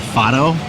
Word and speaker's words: fado: like here in Portugal is called fot it's spelled f a d o I think it's a